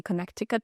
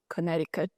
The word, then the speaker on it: Connecticut: It's spelled Connecticut, but we don't say Connecticut. We say Connecticut.